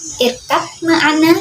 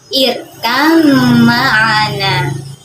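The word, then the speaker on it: ارْكَب مَّعَنَا: Teman-teman, irkab ma'ana itu ada salah tulisannya, namun membacanya hati-hati. Harus irkam ma'ana.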